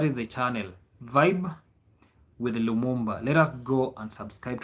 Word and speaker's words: Lumumba: It is Lumumba, yeah? Lumumba. The way they pronounce it when it comes to African. No, in in Swahili it's Lumumba. You just read it the way it is.